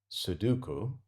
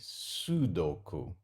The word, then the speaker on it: Sudoku: I've had a couple of comments actually over the last handful of videos about my pronunciation of the word Sudoku, which in Japanese is meant to be Sudoku, I believe.